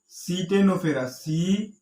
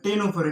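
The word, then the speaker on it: Ctenophora: আর সিটেনোফোরা না, এখানে সি উচ্চারণ হয়, সি উচ্চারিত হয় না, টেনোফোরা।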